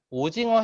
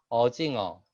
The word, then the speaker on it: 오징어: 선생님을 선생님 이렇게 했고 오징어 해야 되는데 반대로 어징어.